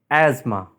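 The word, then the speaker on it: asthma: Right pronunciation as Asma ASA is wrong Asma Asma is Right pronunciation sword sword is wrong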